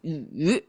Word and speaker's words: 羽: And when we double that, the study or review, it become feathers and pronounced differently, pronounced as yu.